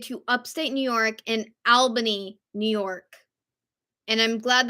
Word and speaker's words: Albany: it's all related to Upstate New York and Albany New York and I'm glad that I said that correctly because every time I want to say albainy when that's not how it's pronounced and I